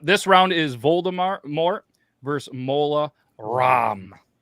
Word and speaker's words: Mola Ram: Yep, this round is Voldemort versus Mola Ram. Like CD-ROM, but apparently it's spelled Ram, which is really dumb anyway.